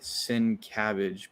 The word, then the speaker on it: Sienkiewicz: He said it's pronounced like Sin Cabbage, but that's what we said. Sienkiewicz. Yeah, I said Sienkiewicz.